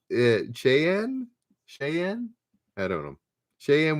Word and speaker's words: Cheyenne: what's the capital of wyoming uh pronounce it cheyenne cheyenne i don't know sheam warriors at little bighorn and defeated american general custard cheyenne oh there you go cheyenne thank you samayo